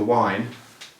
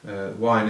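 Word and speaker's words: Waen: And the beer is called The Wine, and their logo is a big W like this. Wine is spelt W-A-E-N, so it's The Wine Brewery, Llanidloes, mid Wales.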